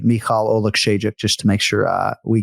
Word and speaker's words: Oleksiejczuk: Michał Lord Oleksiejczuk. Michał Lord Oleksiejczuk. Just like it's spelled. Yep. Yeah, just like it's spelled. OLEKSIEJCZUK. That's simple, guys.